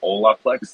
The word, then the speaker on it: Holaplex: I think internally we say Holaplex. Like a lot of the team has like Latin and Hispanic origins, so it's kind of Uh-huh.